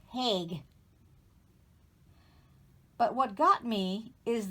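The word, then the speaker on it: Haig: see what is it it is h-a-i-g i think it's pronounced hague but what got me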